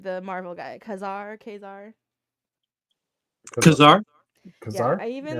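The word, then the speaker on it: Ka-Zar: Etc and then even what how do you pronounce his name the Marvel guy Kazar Kazar Kazar Kazar I even like that little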